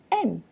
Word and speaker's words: aiment: vous aimez, ils, elles aiment. Okay? And you might want to take a note that the ENT in the last conjugation, ils, elles aiment, A-I-M-E-N-T, that ENT is silent.